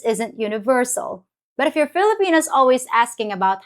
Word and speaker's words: Filipino: it spoken both ways Filipino is the English pronunciation and it's used more formally wherever English is spoken like in schools or government proceedings pilipino is the tagala pronunciation